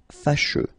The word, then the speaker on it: fâcheux: So final X not pronounced, and then you get your combination of E, U, E. Fâcheux.